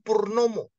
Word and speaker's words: Purnama: gak perlu ganti nama Purnama itu dibaca orang Jawa jadi Purnomo Oh gitu jadi Purnomo oke nah Ini yang jadi masalah saya saya bilang karena nama aslinya Purnama dibacanya Purnomo saya sudah presiden Bro presiden